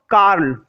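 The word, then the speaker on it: Carl: कार्ल, है ना, are silent है, कार्ल, ठीक है। वैसे आर को भी पढ़ सकते हैं, कार्ल सैंडबर्ग।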